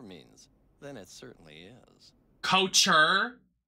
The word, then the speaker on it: couture: Couture? It's couture, darling. Let's not work at a store and mispronounce what we're fucking selling.